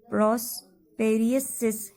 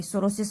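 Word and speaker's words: psoriasis: और इसको क्यों माना जाता है कि ये एक जो प्रॉस्पेरियसिस है, प्रॉस्पेरियसिस या सोरोसिस इसको बोलते हैं, सॉरी सोरोसिस बोलते हैं इसको, टी साइलेंट रहता है इसमें।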